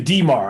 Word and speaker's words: D'Mar: problem metadata is so particular my name is dimar i spell it d apostrophe mar one time i spelled